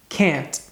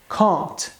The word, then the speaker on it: can't: da pronúncia isso porque no inglês americano a gente costuma dizer can na forma afirmativa já na forma negativa fica can't já se tratando de inglês britânico é muito comum a gente ouvir coisas como can't escute novamente a pronúncia